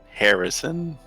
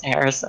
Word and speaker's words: Jerison: Harrison with a J. Where is the J in that? None of your business where the J is. It's spelled Jerison, but pronounces as Harrison.